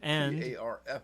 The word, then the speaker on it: PARF: And PARF for those in the know, that's right. which rhymes with park, which rhymes with barf.